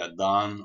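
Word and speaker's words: adhan: link here you'll have the adan or azan as it's pronounced in in the persian pronunciation the call to prayer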